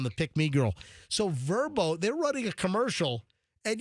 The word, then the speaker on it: VRBO: VRBO, and I think it's pronounced Verbo.